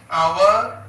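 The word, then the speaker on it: hour: അതേപോലെ അവർ, ഓണസ്റ്റ് മാൻ, ഇവയുടെ രണ്ടിന്റെയും ആദ്യ അക്ഷരം എച്ച് ആണെങ്കിലും ഈ രണ്ട് വാക്കുകളിലും എച്ച് നമ്മൾ പ്രനൗൺസ് ചെയ്യുന്നില്ല, ഉച്ചരിക്കുന്നില്ല.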